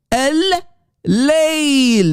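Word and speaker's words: الليل: Do you hear the double L? L, guys, focus, please. Al-Layl. That's the way to say, the correct way to say the night.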